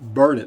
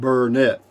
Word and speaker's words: Burnet: Yep, that's what they'll tell you because it's pronounced burn it, not Burnett.